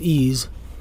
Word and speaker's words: EES: EES, which is pronounced EES, is an acronym for Engineering Equation Solver.